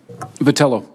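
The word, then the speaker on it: Vitiello: Vitello, that you would agree. Have I pronounced your name correctly? Vitello.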